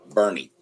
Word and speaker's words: Boerne: Well, so Randall's got Bourne. Is it Bourne? Bernie. Bernie? What? Yeah, north of San Antonio. Bernie. That's how you pronounce it? Bernie? Yeah. Boerne? Yes, it's Bernie.